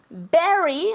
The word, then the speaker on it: bury: Why didn't the dog bury, okay, be careful with the pronunciation, bury the bone in the garden?